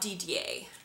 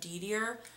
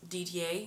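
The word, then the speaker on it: Didier: then I also got DDA which is spelled D i d i e r so you might other people might pronounce that deer but I'm pretty sure that's DDA in French it's so so pretty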